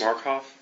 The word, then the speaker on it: Markoff: Would you pronounce and spell your last name, please? Markhoff.